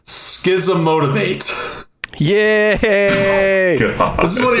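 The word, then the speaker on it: Schismotivate: It's an instant, and I believe it's pronounced Schism Motivate.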